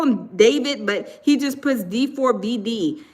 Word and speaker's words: D4vd: Yeah, it's spel it's um they call him David, but he just puts D4B in his um I guess as his like uh tag or whatever.